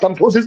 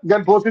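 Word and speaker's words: gomphosis: हां कमफोसिस वही है। उसके कई नाम है जो कमफोसिस है बेटा गमफोसिस बोलते हैं। कुल मिला के जी से है साइलेंट होता है।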